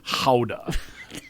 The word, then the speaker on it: Gouda: But you can actually learn about all the different kinds of Dutch cheese, like Gouda, yeah. which the Dutch pronounce like Gouda.